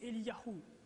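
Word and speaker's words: אליהו: du nom de Dieu, et leur nom se prononce ainsi. Pour Élie, c'est Eliyahu.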